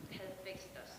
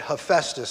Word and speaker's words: Hephaestus: Hephaestus. That's right. Yes, very good. He was the, how, you said Hephaestus? Okay, I've always heard it said Hephaestus, so we have different schools.